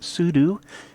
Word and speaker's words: sudo: And by the way, some people pronounce it sudo, as in super user do, which is more etymologically correct, but language is constantly changing, isn't it?